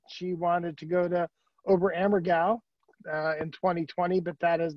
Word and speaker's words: Oberammergau: Mary Lou Alfonso, class of 78, she wanted to go to Oberammergau in 2020, but that has been postponed. I just wanted to say that to show that I know how to pronounce Oberammergau.